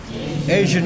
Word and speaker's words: Asian: In contemporary times, pakai Asia bacanya pakai J gitu, Asian arts.